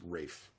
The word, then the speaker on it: Ralph: based on that piece ralph von williams v-a-u-g-h-a-n he's actually pronounced rafe because it's british who has a piece